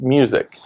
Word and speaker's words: Muzik: It's Muzik, but it's pronounced music.